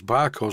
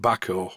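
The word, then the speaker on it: Bahco: i like to use barcode spanners it should be pronounced backhoe but i can't get my head around that because it has an h in it the barcode spanners that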